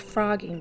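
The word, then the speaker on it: phrogging: It's pronounced frogging, but it's spelled with a PH.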